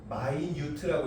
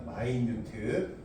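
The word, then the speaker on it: minute: 할 때마다 항상 이렇게 이게 미니트가 아니라 마이뉴트라고 읽으라고 했습니다. 마이뉴트.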